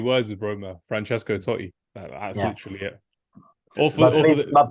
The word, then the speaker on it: Totti: I think it's just 2 words with Roma: Francesco Totti. That's literally it. But please, mate, pronounce the double T. Oh my days, that's crazy. Surname. Totti. Totti.